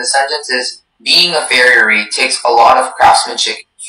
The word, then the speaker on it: farriery: Your word is farriery. Farriery. Can I have all the information, please? Farriery is the only pronunciation.